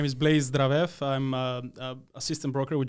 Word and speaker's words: Zdravev: name for a reason I uh I can't pronounce it so go ahead and tell everyone who you are my name is Blaise dravev I'm a assistant broker with General properties uh